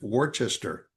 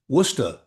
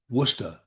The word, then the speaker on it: Worcester: But um when he said, you know, you so do you want to stay here in in Worces Worcester?